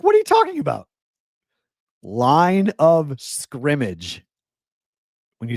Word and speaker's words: line of scrimmage: It's line of scrimmage like football.